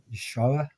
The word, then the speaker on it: Yeshua: Now, some people would maybe, but I didn't know his name was Yeshua. Yeshua. Um three syllables Hebrew. And it got changed to